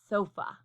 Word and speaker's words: sofa: But if you blend those syllables fast together, sofa, sofa, sofa, you realize, okay, I sort of get lazy when I say the second syllable, and it sounds like fa, sofa.